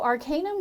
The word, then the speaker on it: Arcanum: So Arcanum was birthed during 2020 when we I were. like the name, Arcanum. Thank you. Did I pronounce it correctly? Arcanum? Yes, Okay. yes.